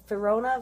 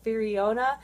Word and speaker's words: Firiona: the artwork uh i used to call her firona vi but actually it's firiona i mean oh my god there's just so